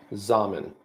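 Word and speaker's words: Xaman: It's now going to be called Zaman. Rhymes with ramen noodles.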